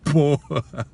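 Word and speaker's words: pot: Eu disse: pô, pinico é pô, P-O-T, a gente pronuncia pô.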